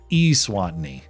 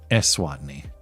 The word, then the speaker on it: Eswatini: Long E Oh, the country's pronounced Eswatini, not Eswatini.